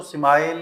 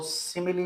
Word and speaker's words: simile: एम आई एल सिमिली इसको स्माइल या इस तरह कोई और तरह से इसको प्रोनाउंस नहीं करना इसको सिमिली पढ़ते हैं सिमिली इ एक्चुअली अ कंपैरिजन